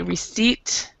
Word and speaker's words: receipt: the b here and we don't pronounce the p in receipt so we say receipt what about when um